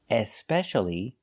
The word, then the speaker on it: especially: so what's aeal espcially if I put an e at the beginning and I pronounce the E especially this means more than